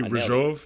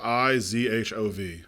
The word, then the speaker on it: Ryjov: Rizhov is the like pronunciation.